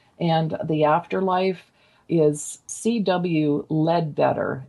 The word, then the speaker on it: Leadbeater: Leadbeater, L-E-A-D, Lead, and it's spelled Beater, Leadbeater. I don't know if it's pronounced that way, Leadbeater.